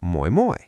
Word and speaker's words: moi moi: If "Hi" is Moi, "Bye" is simply Moi moi. Mnemonic: "Moi moi, I'm off to the boy-boy (buoy) at the beach!"